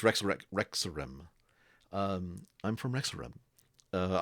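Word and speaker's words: Rexxentrum: capital of the dwindling Empire uh it's Rex rexorim um I'm from Mexico uh I spell that it's like r e x x I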